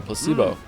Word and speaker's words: placebo: me precocious placeo oh Placebo the stress is on the middle Placebo placebo very good